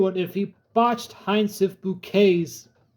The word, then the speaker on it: Bucket: if he botched he bouquet's pronunciation. I would have ripped Eddie a new one if he botched it. It's like scene bucket and high snuff says it's bouquet.